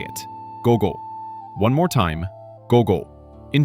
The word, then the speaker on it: ごご: The word for PM is gogo. My turn. Gogo. Now you say it. Gogo.